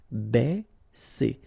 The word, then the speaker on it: baisser: Ba, okay, because A and E together will produce the sound E. Baisser, baisser.